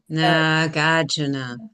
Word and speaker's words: Nagarjuna: He's a very famous master of Buddhism, and his name is Nagarjuna. Nagarjuna. Say that word in Sanskrit, everybody. Nagarjuna. Nagarjuna. Nagarjuna. Nagarjuna. Nagarjuna. Nagarjuna. Nagarjuna. Nagarjuna. Oh, Nagarjuna. No. Nagarjuna. Nagarjuna.